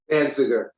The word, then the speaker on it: Danziger: Danziger.